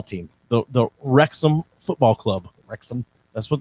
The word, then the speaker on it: Wrexham: Wrexham. That's what it's called. WREXHAM. How do you know it's not War Wrexham? I know it's not. They're British. They wouldn't pronounce it that way.